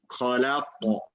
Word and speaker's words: خلق: It's no, it's not about longer or short. It's more like it's heavier. Heavier. Like full mouth, basically. Yeah. خلق.